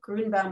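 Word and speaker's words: Grünbaum: time yeah well um it was originally grew and bound with a with an umlaut and so that's that ue is the umlaut and when um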